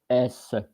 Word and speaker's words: cymbale: I was not knowing that, but it is like to not mix with cymbal, which is Cymbales, and it's the plural of cymbal, and it is pronounced Cymbale.